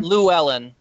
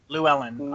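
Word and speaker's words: Llewellyn: so apparently this is written by David uh lellan did we determine that was the right pronunciation Luellen Luellen okay it also marks the return of Shan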